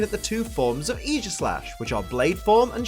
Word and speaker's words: Aegislash: it EA slash cuz that's how they pronounce in the anime you're going to just have to get used to it mate EEG slash always starts a battle